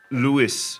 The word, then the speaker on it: Lewis: française effectivement mais majorité du temps je le prononce Louis parce que lui-même s'introduit en tant que étant